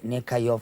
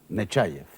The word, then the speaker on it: Nechaev: ¿Cómo prefieres que le tratemos como el señor ministro o como el autor de Nekayov ha vuelto? Nechaev. Nechaev. Ya lo he pronunciado mal.